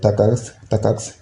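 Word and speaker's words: TACACS: Comme vous le voyez ici, c'est Takax, si je vous le prononce comme ça.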